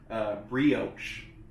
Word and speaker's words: brioche: It's a little extra on a little, I think, brooch bun. A broachy bun? I didn't know how to pronounce it. Brioche. 3rd time's the charm.